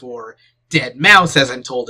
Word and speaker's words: deadmau5: genre was you know dead mou 5 or dead mouse as I'm told it's pronounced although if you didn't want me to